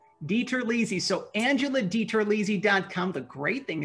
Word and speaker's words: DiTerlizzi: So Angela, for our listeners and viewers, our friends and neighbors, can you pronounce our last name for us, if you could? Absolutely. It's Angela DiTerlizzi. DiTerlizzi.